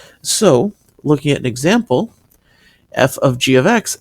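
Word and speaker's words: f∘g(x): of X and what this is is it's pronounced F of G of x if we were to write it in the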